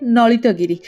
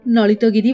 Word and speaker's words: Lalitagiri: के हिसाब से, पर मेरा मानना ये है कि गांव में ना हमेशा ल को न प्रोनाउंस ही करते हैं, शायद इसके लिए इसको गांव वाले नलितगिरी बोलते होंगे।